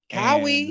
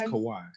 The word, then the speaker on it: Kawhi: the los angeles clippers howie is that how you say his name cowie no no it's kawhi hawaii oh yeah yeah say